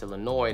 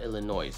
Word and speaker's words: Illinois: Illinois we know that Illinois has a silent s sound so it should be pronounced Illinois not Illinois yeah we knew that